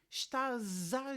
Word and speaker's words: estás: em estaz à janela já reparaste bem na maneira como eu pronuncio o último S da palavra estás se tu já estudaste português então Já sabes que quando está no fim da palavra a letra s é pronunciada como X então E porque é que neste caso eu estou a dizer está Z janela portanto estou a pronunciar aquele S como se fosse um z porquê se não